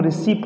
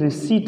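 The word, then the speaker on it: receipt: बेटा, रिसीप्ट बोलते हैं, पर ध्यान रखना प्रिय स्टूडेंट, इसको हम रिसीप्ट नहीं रिसीट बोलते हैं। क्या बोलते हैं, रिसीट। ओके बेटा, इसका पी जो रहता है वो साइलेंट रहता है, इसको आपको कभी भी रिसीप्ट नहीं लिखना।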